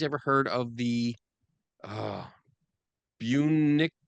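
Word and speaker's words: Bunnicula: Kathy says, "Have you ladies ever heard of the uh Bunicula Bicula?" Bonicula. Is that it? Did I say it right?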